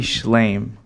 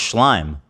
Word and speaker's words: Schlime: Abby Schlame. No, it's Schlime. I know it's spelled like Schlame.